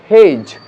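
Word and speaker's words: hedge: নট জাজ, জাজ, জাজ, ডি সাইলেন্ট, এখানেও ডি সাইলেন্ট তাই হেজ, এবং এটাও আগেই বলেছি যে ডি সাইলেন্ট তাই এটা স্যান্ডউইচ নয়, বলবো স্যান্ডউইচ।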